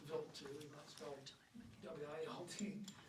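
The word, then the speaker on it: Wild 2: It's pronounced Vilt W and it was named after a Swiss astronomer named Paul Vilt and he discovered this comet in 1978.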